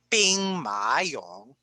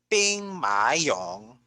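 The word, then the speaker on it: 兵马俑: Let's start with the Terracotta Warriors, or in Mandarin Chinese, you pronounce this as Bing Ma Yong, Bing Ma Yong, Bing Ma Yong.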